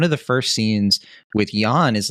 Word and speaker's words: Jann: Yan is like and I called him Jan earlier I guess it's Yan and this is this is that rare once in a year maybe once every two years where where will pronounces a name correctly and I don't oh okay I'm sure